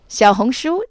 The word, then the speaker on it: Xiaohongshu: friday december 7th so ray what is xiaohongshuo that's spelled x i a o h o n